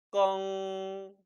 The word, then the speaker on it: 更: 뜻 그리고 발음을 지니니 고칠 경자는 따라 읽어보세요. 껑, 껑 일성으로 발음됩니다. 반면에 갱신으로 발음할 때는 중국어 발음 역시 변해서 껑, 껑 사성으로 발음된다는 것이지요. 따라서 동사로 발음할 때, 즉 고치다라는 의미를 낼 땐 껑, 다시라는 의미의 부사로 쓰일 땐 껑, 사성으로 발음됨에 주의하시기 바랍니다.